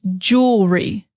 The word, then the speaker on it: jewelry: So first, focus on jewel, jewel, jewel, jewel, and then jewelry, jewelry. That's it.